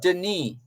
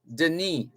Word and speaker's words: Denis: His first name is spelled Denis, which means it's French. It's actually Denis, Denis, Denis.